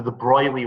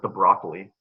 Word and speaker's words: de Broglie: the idea of the de Broglie wavelength so she's from France so a lot of people mispronounce that as like the broccoli so that's why I